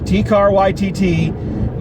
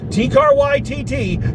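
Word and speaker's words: Taika Waititi: So I'm using the pronunciation someone left in the comments section of the video, T-Car YTT.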